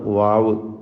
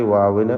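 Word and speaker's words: واو: അബദ്ധം വരുന്നൊരു ഹർഫാണ് വാവ്. വാവിൻ്റെ ഉച്ചാരണം വ്യക്തമായി 2 ചുണ്ടുകളിൽ നിന്ന് തന്നെ വരണം. അത് താഴെ ചുണ്ട് മേലെ പല്ലും ചേർത്തുകൊണ്ട് വ എന്നായി പോകരുത്. ഉവ എന്ന ചുണ്ട് വൃത്താകൃതിയിലാക്കിക്കൊണ്ട് തന്നെ ഉച്ചരിക്കണം.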